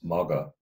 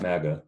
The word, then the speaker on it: magga: So the fourth is magga, not maga. There's two G's if you spell it out in English. So magga.